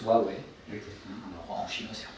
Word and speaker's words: Huawei: Donc la marque se prononce Huawei. Okay. Alors, en chinois c'est Huawei. Nous on a décidé de pousser le Hua et le Wei, jouer sur l'association du Wow, super, le produit magique,